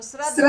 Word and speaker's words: श्रद्धया: द पूरो है हाँ लेकिन वो जब तो संस्कृत में उच्चारण करा तो यो द आधो हो जावे और ध पूरो हो जावे ठीक है ना तो श्रद्धया श्रद्धया हाँ श्रद्धया श्रद्धया